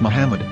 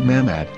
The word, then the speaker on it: מחמד: of the Muslim prophet, or as Mamad with no A after the H. According to Ben Yehuda's Hebrew English Dictionary, it is correctly pronounced as Muhammad, not Mamad.